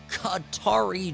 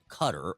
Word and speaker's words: Qatar: I'll say this, too, about the Qatari jet, the 747, offered as a gift to the U.S. government, to the Department of Defense from Qatar, or Qatar, depending on how you like to pronounce it.